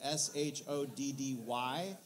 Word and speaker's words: Shoddy: accounts the only thing i've seen from a pronunciation is s-h-o-d-d-y shoddy and they actually at one point changed